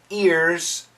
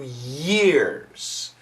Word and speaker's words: year: careful with this sound you do not want to say a few ears you want to say a few years my recommendation when you